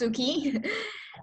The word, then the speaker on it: Sueki: And yeah, so it's pronounced Suki. Sounds Japanese, but it's really not.